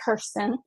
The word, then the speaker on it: Kersten: s t n v I know my name is like super difficult to say it's pronounced Kirsten so um in case